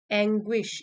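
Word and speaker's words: anguish: Expressing deep एंग्विश, एंग्विश ये pronunciation है, एंग्विश मतलब बहुत ही गहरा दुख।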